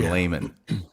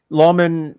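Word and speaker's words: lamen: Now you just use a technical term, layman. Oh, yeah. Could you explain that for the layman? Lawman is really the pronunciation for Latin, and Latin it means plate.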